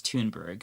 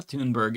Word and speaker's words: Thunberg: um Greta Thunberg or Tunber. I think her name is Tunberg. I want to say that's how you pronounce it.